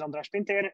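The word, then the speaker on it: András Pintér: right so about myself um my name is andres pinter as um susan very nicely said um she she learned to pronounce my hungarian name very nicely over the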